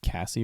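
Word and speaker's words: Caissie: I think they pronounce it Cassie or something. Cassie. Oh yeah, Casey, because there's an I after the A. C-A-I. It's weird.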